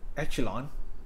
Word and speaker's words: echelon: Or what we call here is the row echelon, echelon, row echelon form. I think how to pronounce echelon?